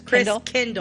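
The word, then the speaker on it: Christkindl: actually it's Kindle Chris Chris Kindle what I say kingle cuz you want to say chisle yeah Chris Kindle Market yeah why is it Kindle because it's German so like in it's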